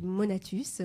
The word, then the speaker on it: Monatus: Alors. Et puis Monatus, voilà, comme ça se prononce en fait.